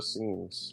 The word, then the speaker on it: Essenes: It is thought the majority of the scrolls were written and hidden by the Essenes. One of the many discoveries from You said it right. It's the scenes. It's a scenes, right?